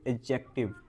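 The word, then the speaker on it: adjective: इसको स्पेल करते हैं ए, डी, ए, डी, जे, ई, सी, टी, आई, वी। लेकिन इसको हम लोग जो प्रोनाउंस करते हैं, उसको करते हैं एडजेक्टिव। डी वहां पे साइलेंट होता है।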